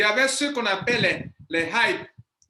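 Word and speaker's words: HYIP: Il y avait ceux qu'on appelle les hype. Hype s'écrit H-Y-I-P. H-Y-I-P. C'est une abréviation.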